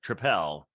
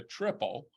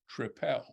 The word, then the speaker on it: tripel: fact I probably said I'll have a triple when I spoke to him and he then said tripel oh so maybe it is maybe he was correcting my pronunciation and that's saying which beer he liked but I should go back to calling it a tripel again maybe maybe absolutely no